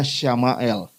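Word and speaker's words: שמואל: dan l Jadi kalau dalam bahasa Ibrani itu Samuel itu bacanya samael ya sama itu mendengar ya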